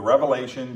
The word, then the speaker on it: Revelation: the Bible the revelation it is not revelations plural and a lot of people mispronounce that book and they say the